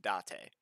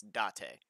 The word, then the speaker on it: Date: that word is pronounced date the the japanese don't have like long vowels so yeah that pissed me off because even in the sub they were saying date and i was like it's date clearly yeah yeah it's